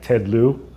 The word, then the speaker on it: Ted Lieu: Like right now, I like Ted Lieu. He's That's how you pronounce Ted Lieu Ted Lieu.